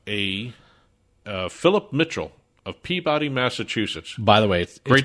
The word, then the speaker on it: Peabody: right we have a uh philip mitchell of peabody massachusetts by the way great segway going from boston harbor to it it's pronounced peabody peabody peabody peabody peabody peabody was